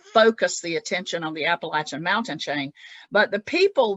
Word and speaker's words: Appalachian: in language and said and published the proper pronunciation is Appalachian Mountains.